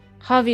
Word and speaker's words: Javi: Javi is pronounced as Javi in the J A in Spanish. Oh, H.